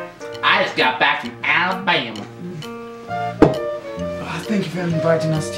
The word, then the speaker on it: Alabama: Oh, that is a horrible time to be in Ralabama. Alabama. Ralabama. Cut. It's pronounced Alabama.